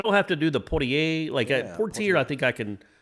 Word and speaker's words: Portier: By the way, it's Portier. Portier? Yeah, and you're Sidney right. Portier, that's it. It's spelled the same as the actor.